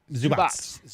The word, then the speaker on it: Zubac: Yeah, Zubats. Yeah, Ivica Zubats.